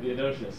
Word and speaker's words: Theodosius: being banned by Roman Emperor, how do you pronounce that? Theodosius.